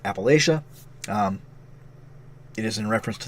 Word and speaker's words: Appalachia: the game in videos say it differently it's pronounced Appalachia it is in reference to the Appalachian Mountains